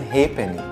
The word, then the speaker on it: halfpenny: F as in halfpenny. Halfpenny is how you pronounce half penny.